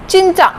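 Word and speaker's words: 진짜: चिंचा में जब जीएफ स्टार्टिंग में लगा हुआ है तो मैंने इसको च प्रोनाउंस किया, चिंचा, which means really।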